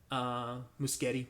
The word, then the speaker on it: Muschietti: movie, the most recent, the India Muschietti or Muschietti, I think is actually the proper pronunciation.